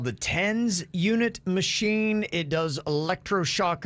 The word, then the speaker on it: TENS: oh really okay nice how do you pronounce it tens tens yeah t-e-n-s tens unit that's what the they